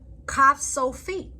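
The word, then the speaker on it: ך: The word sofit means the ending pronounced like a K. The end of the word, it is only at the end of a word, or has the KH sound. Also sound like a clearing one's throat. Lamed.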